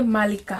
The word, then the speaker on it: Malika: Like when you're now pronouncing my name in Luya, you say Malika. Okay. Malika. Okay. Malika. Malika. Yeah. Okay, got it. Yeah. So emphasis on the first syllable.